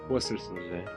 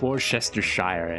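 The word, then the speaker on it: Worcestershire: Worsters woruses. Worsters. Worsters. Worers. Not Warchestershire. You know wor.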